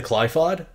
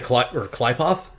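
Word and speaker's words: Qliphoth: Although, in terms of visual design, there are too many missions in the Klypod. Yeah. But the Klypoth? Either pronunciation is generally correct.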